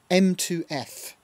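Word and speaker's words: mtof: object which is um m2f is how you pronounce that or midi to frequency so it converts a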